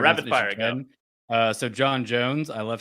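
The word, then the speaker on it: J'onn J'onzz: I always said Jean. That's how they say it in like the Justice League cartoon, but in the Young Justice, like the more recent stuff, they really put that. They really emphasize that apostrophe.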